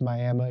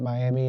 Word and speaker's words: Miami: And if you're from the panhandle, yes, it's Miami. If you're not from the panhandle, you would pronounce it Miami.